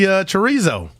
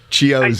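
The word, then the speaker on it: Chiozza: We're going to see Chorizo. He going to get some run. How you pronounce it? Chiozo.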